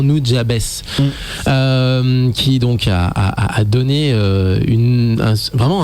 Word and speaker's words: Nujabes: Nujabes, faut que j'arrête de le prononcer à l'américaine. C'était vraiment en katakana, je crois que ça se prononçait vraiment Nujabes, qui donc a donné